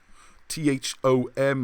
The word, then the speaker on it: Thom: And if you look at the work of Alexander Thom, Thom, I think it's Tom, but I pronounce that way to remember the H, he has mapped out